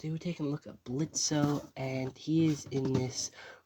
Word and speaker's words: Blitzø: But obviously Blitzø, or Blitz, because the O is silent, and I do like how they crossed it out here.